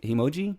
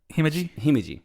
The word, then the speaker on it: Himeji: How do you say Himoji? Himeji.